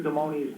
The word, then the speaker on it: Damoni: And Dr. Damoni's name is pronounced Damoni, just for future.